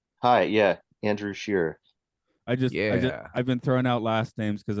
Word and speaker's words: Shearer: hi Andrew you last name hi yeah Andrew sheer I just I've been throwing out last names